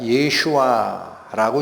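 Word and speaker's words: ישוע: 예슈아라고 읽힙니다.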